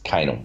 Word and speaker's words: Kanal: It's not Kanal. It's Kanal.